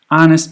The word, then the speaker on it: honest: Honest begins with an H, but you don't pronounce the H.